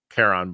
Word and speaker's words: Charon: me that they mispronounced Caron but Charon is like Sharon as they called him um in John Wick